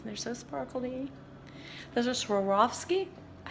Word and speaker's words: Swarovski: gave me these they're so sparkly those are Swarovski I said it right for the first time